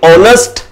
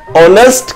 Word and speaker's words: honest: අකුර silent වෙනවා sound එක silent වෙනවා මේක pronounce කරද්දි honest honest කියලා තමයි pronounce කරන්නේ o o honest කියලා